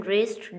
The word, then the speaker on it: wrist: In wrist, W is silent letter.